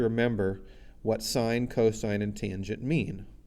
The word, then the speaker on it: tangent: the tangent we say we don't say tan we say tangent of angle a for